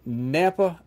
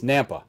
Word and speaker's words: Nampa: joins us always from Napa Idaho is that right yep okay I didn't know if that's how pronounced or not it's Nampa right yeah kind of like Tampa but with an end